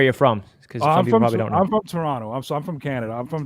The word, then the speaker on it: Toronto: the T at the end they're not from Toronto because we don't put the we don't pronounce a Toronto it's Toronto so that's how